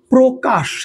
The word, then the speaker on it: প্রকাশ: আসি আমরা বলতে পারি প্রকাশ কি বললাম বলেন তো আমরা বলেছি প্রকাশ দেখেন প্রটা আমরা উচ্চারণের সময় বুঝতে পারতেছি এটা ও হবে দেখেন প্র প্রকাশ আমরা